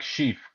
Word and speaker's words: Scheaff: Chef? Yeah, Okay. it's like Scheaff, like Yeah. chief with an S.